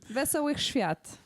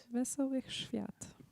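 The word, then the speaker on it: Wesołych Świąt: Wesołych Świat. That's how you say Merry Christmas. Wesołych Świat. Say it again. Wesołych Świat.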